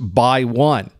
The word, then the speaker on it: x1: The X1 is pronounced BY1.